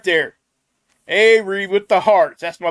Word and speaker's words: Avari: But yeah, and her name is Avery. I know it's spelled Avari.